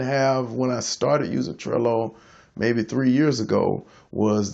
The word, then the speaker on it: Trello: I'm gonna start with I'm mostly familiar with Trello that's tr elo rhymes with jello versus T ar e